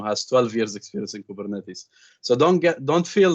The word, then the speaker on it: Kubernetes: term um but but it's pretty much a greek word it's pronounced as kubernetes um it's it's the